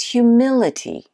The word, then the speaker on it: humility: Number five is humility. Humility. What's this one? That one is the second syllable.